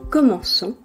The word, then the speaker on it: commençons: For verbs in CER, it is necessary to add a cedilla to the C at the first person plural to keep the sound s. Otherwise, it would be pronounced que. Nous commençons, we begin.